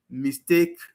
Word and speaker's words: mistake: Some Nigerian speakers of English overgeneralize this rule and extend it to words like address, mistake, which are pronounced with the stress on the second syllable for both nouns and verbs.